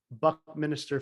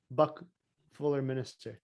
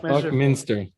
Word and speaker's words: Buckminster: And Cameron referenced Buckminster Fuller. Buck Fuller Minister. No, you said it right the first time. Buckminster. Buckminster Fuller.